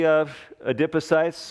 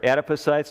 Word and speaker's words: adipocytes: And you're carrying extra adipose cell mass, basically adipocytes or adipocytes, depending on what side of the Atlantic you prefer the pronunciation.